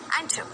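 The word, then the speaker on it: enter: समझे मैं कैसे बोल रही हूँ, एंटर, एंटर, एंटर, च च च, र साइलेंट है, चुप है र, एंटर, एंटर। र का र ऐसे साउंड आ रही है, एंटर मतलब प्रवेश करना।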